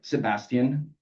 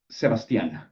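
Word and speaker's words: Sebastián: You're being a jerk, Sebastian. Sebastian, sorry. Stress on the last syllable.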